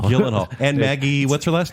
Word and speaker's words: Gyllenhaal: How do you pronounce his last name? Gyllenhaal. It's Gyllenhaal. Gyllenhaal.